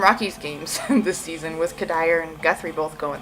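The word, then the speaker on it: Cuddyer: not a baseball fan I think he said cuddier Michael cuddier something like that oh he just really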